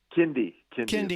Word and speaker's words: Kindy: Kindy is how it's pronounced.